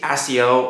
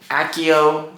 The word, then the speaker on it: accio: does it anyways so accio three syllables open two syllables if